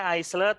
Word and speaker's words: aisle: Tulisannya aisle tapi bacanya aisle ya. Ini harus kalian jangan sampai salah.